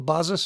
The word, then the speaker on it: BASIS: I look at it, I see the word basis. But I guess because it's a German Apple II clone, it's pronounced Basis.